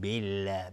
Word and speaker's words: بالله: لفظ جلاله ترقیق میشه، نازک تلفظ میشه. میگیم بالله بالله، نمیگیم بالله بالله.